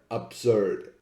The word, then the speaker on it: absurd: Let's take for example the word bird, B-I-R-D, and the word absurd, A-B-S-U-R-D. We can see that bird and absurd actually rhyme. They are pronounced the same way, even though bird has an I and absurd has a U. This is due to the sound of the semiconsonant R, which in English, especially in modern